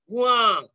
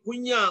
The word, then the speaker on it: ভুয়া: যেমন মিয়া, মিয়া, ভুয়া, যেটাকে অনেকেই ভুইয়া উচ্চারণ করে।